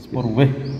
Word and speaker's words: spoorweg: Oh artinya di Belanda itu G dibacanya H. Spoorweg.